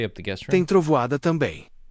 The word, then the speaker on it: trovoada: Na praia sempre tem trovada. Is that how you say it? Trovada? Trovoada. Forte.